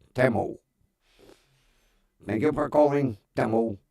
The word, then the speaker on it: Temu: I've been mispronouncing it. It's not Timu, it's Temu.